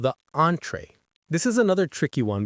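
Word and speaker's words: entrée: Entree. Entree. The stress is on the first syllable.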